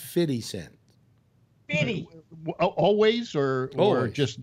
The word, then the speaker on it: 50 Cent: if you have to pay a dollar it's pronounced fitty cent any always or or just now always always